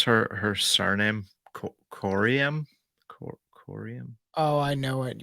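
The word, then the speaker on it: Coriam: know how do you pronounce her her surname corium corium oh I know what you're talking about c c o r i a m quorum quorum yeah like that hey guys I had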